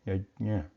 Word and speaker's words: यज्ञ: Even if you write separate letters using Devanagari, the pronunciation remains the same, yajna.